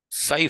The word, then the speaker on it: psi: Events that seem to lie outside the region of accepted scientific laws are called psi phenomena, PSI. The P is silent there.